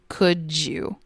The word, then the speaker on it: could you: Sometimes these words are clearly pronounced, and sometimes it sounds like could you with a J sound. Could you.